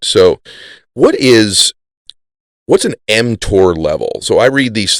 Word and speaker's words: mTOR: you talk about before yeah you're pronouncing it correctly it's called mtor okay m stands for